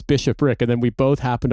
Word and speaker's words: bishopric: He pronounced it like Bosphoric. And I was like, when you're describing about like the sort of political organization of the Catholic Church at the time, you know, talking about the Battle of Lake Phoebus, I was like, I realized what you were saying, and I was like, Joe, it's bishopric. It's bishopric.